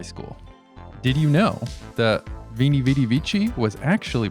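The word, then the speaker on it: veni, vidi, vici: Did you know that Vini Vidi Vici was actually pronounced Weenie Weedy Weeky?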